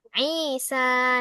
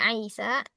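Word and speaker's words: عيسى: Saudara laki-lakiku namanya Isa. Nah, ini Isanya enggak ada harakat ya. Jangan dibaca Aisa. Isa dikasih harakatnya ya akhwati.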